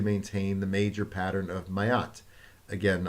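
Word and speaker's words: Ma'at: Above all, the order had to maintain the major pattern of Mayat. Again, I may be pronouncing that wrong. I've heard it called Mat, M-A'-A-T, Mat, defined as divine justice.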